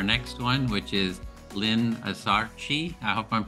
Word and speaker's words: Azarchi: And we're gonna move on to our next one, which is Lynne Azarchi. I hope I'm pronouncing that correct as well. How do you pronounce it? Azarchi.